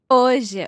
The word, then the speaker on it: hoje: Let's try to pronounce this. Hoje. Hoje. Okay. It is a j.